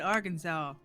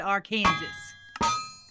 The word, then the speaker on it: Arkansas: did you pronounce it I said Arkansas but there were plenty of people that said our Kansas from Kansas okay makes sense okay and